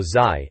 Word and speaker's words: ZY: The reviewer ZY, or Zai, as we're told to pronounce it, seems to think it could be another hit for Acclaim.